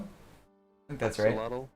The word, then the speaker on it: axolotl: How do you actually pronounce this? The name of this new mob, like the axolotl thing. Axolotl? I think that's axolotl?